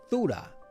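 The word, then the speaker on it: θύρα: as door here in the Greek concordance is pronounced thuda and could also mean the gate but whether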